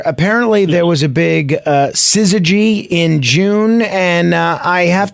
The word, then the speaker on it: syzygy: or maybe more objects than three, but the pronunciation is syzygy.